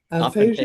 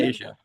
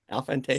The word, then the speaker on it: aphantasia: did not know that you had, I don't even know how to say it properly, aphasia. Aphantasia. Aphantasia.